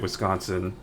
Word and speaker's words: Wisconsin: Maybe it is actually supposed to be pronounced Wiskansson, but I've lived in the state for a good number of years and I feel like from my experience, I've always pronounced it Wisconsin and like I feel like most people living